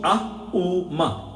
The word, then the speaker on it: Om: Om is 3 syllables, not so A-U-Ma. Aum.